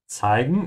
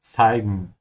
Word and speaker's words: zeigen: Zeigen is to show. Remember to pronounce the Z sound with a T in the beginning, then S. Yeah, like a snake. Zeigen.